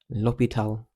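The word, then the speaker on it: L'Hôpital: L'Hopital.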